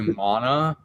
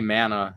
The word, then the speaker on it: mana: It's actually mana. I've seen people specifically like making posts like, you guys are all pronouncing it wrong. But you know what? If you play the game, they say mana in the game.